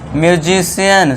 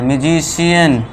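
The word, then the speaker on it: musician: जैसे अब सी के आगे आई ए है तो इसे क्या कहेंगे? सोशल स का साउंड यहां पे आ रहा है। अब सी के आ गया फिर से आई ए तो यहां पे रेशियल म्यूजिशियन। सी के आगे आई ए है। म्यूजिशियन फेशियल यानी कि मुखब संबंधी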